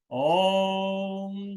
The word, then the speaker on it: ओम: लंबा सास भर दीर्घ ओम का उच्चारण करेंगे ओम का उच्चारण ओ और म दो और एक के अनुपात में भरे गहरा लंबा सांस